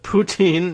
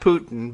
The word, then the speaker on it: poutine: up a plate of poutine not putin but poutine though they do spell it the same way and uh well kegger